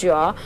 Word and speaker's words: Jean: Jean is why I am pronouncing Jean as Jean. It is a French word.